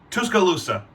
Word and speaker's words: Tuscaloosa: I can't pronounce the city. Tuscaloosa.